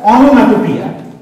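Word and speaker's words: onomatopoeia: Pronounced as ओनोमैटोपिया, ओनोमैटोपिया, ओनोमैटोपिया।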